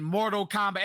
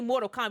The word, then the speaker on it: Mortal Kombat: because you don't say Mortal Kombat, you say Mortal Kombat. Like, that's how you say it. Like you say with hair on your chest, Mortal Kombat.